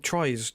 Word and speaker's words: Troyes: He plays for, I believe it's pronounced Troyes, in France, which is another CFG club. We own that club, Troyes, whatever, however you pronounce it, right?